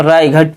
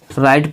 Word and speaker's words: right: यदि पढ़ते तो हमें पता है कि GH से घा बनता है, GH से घा, तो हम राई घट पढ़ते वो गलत हो जाता, वो नहीं पढ़ेंगे। RIGHT को राइट पढ़ेंगे, NIGHT को नाइट पढ़ेंगे, LIGHT को लाइट पढ़ेंगे, राइट नाइट लाइट। यदि किसी भी शब्द के बीच में GH आए तो उस GH का उच्चारण हम नहीं करते दोस्तों।